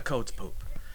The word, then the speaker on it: Codz Poop: And sometimes you'll see it's Poop spelled with one O, sometimes with two, and that's why you hear people sometimes referring to it as the Codz Poop, but it's not the Codz Poop.